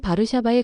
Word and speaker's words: Warszawa: 폴란드어에서 와샤와의 발음은 바르샤바에 가깝습니다. 하지만 영어권에서는 워소로 옮겨졌고 그 과정에서 도시 이미지도 다소 달라졌어요.